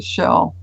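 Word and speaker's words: Jell: He can talk to Shell, the one that looks like J-E-L-L as Shell is how you pronounce it.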